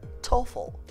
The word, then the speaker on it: TOEFL: شما هیچ فردی رو پیدا نمی کنین تلفظ کنه TOEFL. به جایش چی می خوانن؟ TOEFL.